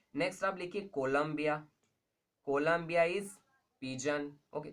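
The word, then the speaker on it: Columba: ठीक है जी, नेक्स्ट आप लिखिए कोलंबिया, कोलंबिया is pigeon. Okay, कोलंबिया तो कंट्री है, इसको कोलंबा बोलते हैं, कोलंबा इज पीजन।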